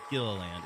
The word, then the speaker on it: Gilliland: Did I pronounce that correctly? Gilliland.